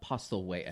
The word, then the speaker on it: Postlethwaite: Postlethwaite, I think.